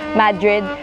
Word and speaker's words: Madrid: Mali pala yyung pagkaka-pronounce ko ng Madrid. Madrid pala. Madrid.